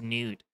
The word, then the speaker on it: Nut: Nut or Newt, as many of... Or it's not many of you guys. There's one guy who's just like, it's pronounced Newt.